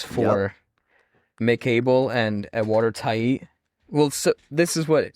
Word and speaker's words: Tait: So I actually did not know because we've been saying Tate for so long. It's Yeah. pronounced Tait, Tight. but now we know that it's Tait instead of Tate.